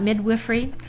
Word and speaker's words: midwifery: intriguing we have just really enjoyed learning about midwifery that's how it's pronounced I learned I was saying midwifery that's